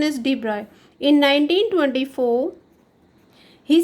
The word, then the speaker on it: de Broglie: On the same concept, the de Broglie, the pronunciation is de Broglie. Some of the you can pronounce it de Broglie, but actual pronunciation is de Broglie.